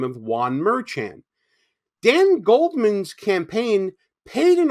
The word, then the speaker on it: Merchan: So as I was editing this video, I realized that I mispronounced the judge's name. His name is Juan Merchan. I kept saying Merchan because it was 1 a.m.